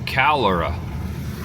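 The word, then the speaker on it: Calera: Adventurers Coffee Company of Calora. I think that's how you pronounce it. C A L E R A.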